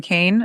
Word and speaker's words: Keane: Dame Kane is how, yeah, it looks like Keane, but it's Okay. pronounced Kane.